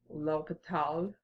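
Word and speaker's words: L'Hôpital: mathematician who devised this method his name was loketh Todd that's my French accent I hope you like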